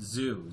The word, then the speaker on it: XXIOU: Phonetic name, this is good because like my name is spelled XXIOU, but we pronounce it Zoo, Z-O-O.